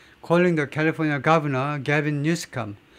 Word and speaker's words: Newsom: Calling the California Governor Gavin Newsom. 이 캘리포니아 주지사를요 트럼프가 뭐라고 그러냐면 Gavin Newsom이 아니고 Newsom이라고 불렀어요. Newsom. 케빈 뉴섬 스펠링 아마 이렇게 될 겁니다.